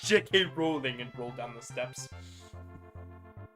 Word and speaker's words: Rowling: ] floor it's unfortunate it's unfortunately not pronounced that way it's rowling jk rowling no it's jk rowling and roll down the